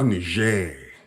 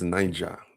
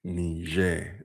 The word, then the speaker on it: Niger: states same spelling but The country of Niger is actually pronounced Nijer not Niger.